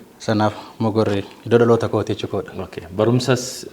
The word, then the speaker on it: Mogor: Garuu pronunciationii Oromoo yeroo waa'u Mogor jedhee oo kanaan waama. Mugar immoo pronunciationii warra afaan Oromoo sirriitti hin dandeenye Mugar kan jedhu. Isantu akkaataa waamuu dadhabee Mugar jedhe malee? Originaalii maqaanii Oromoon yeroo waamu ka warra keenya Mogor laga Mogor kan jennu oodha fayyadamu osoo hin taane jechuudha.